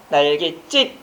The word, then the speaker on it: 날갯짓: 여기서는 날개에다가 짓, 그 발음은 뭐가 돼? 날갯짓 된 소리가 발음되고 있으니까 앞에다가 뭘 적는다?